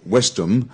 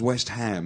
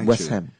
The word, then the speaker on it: West Ham: football clubs in England so these two words are separated so it's not wisdom it becomes West Ham West Ham yeah Vice you know